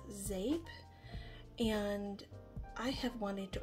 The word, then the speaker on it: Zeep: and the vendor is zape that's spelled z-e-e-p but it's pronounced zape and I have wanted to order from zape for a while but